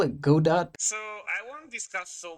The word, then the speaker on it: Godot: it I call it Go dot so I want discuss so much about state of Godot this time because it's it's supposed to rhyme with robot though many insist it should be pronounced gdau like the Samuel Becket